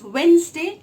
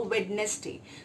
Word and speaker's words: Wednesday: The D is always silent in Wednesday. So the proper pronunciation is Wednesday and not a Wednesday.